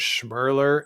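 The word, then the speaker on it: Schmirler: eight the fact that her name was schurer and it rhymes with kler really just the the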